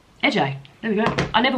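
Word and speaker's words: Ece: How to pronounce the first name? E C E. Oh, so it's AJ AJ.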